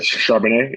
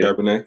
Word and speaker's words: Charbonnet: For dog of the week, I went with I can never pronounce his name right. Zach Charbonnet. Is it Charbonnet? Charbonnet? Charbonnet, yeah, Charbonnet from crazy.